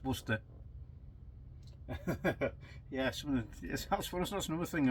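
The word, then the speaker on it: Worcester: put either mustard or wor mustard sauce or wer shy wer shy sure some of the Americans try to pronounce it it's Worster yeah that's that's another thing I watch sometimes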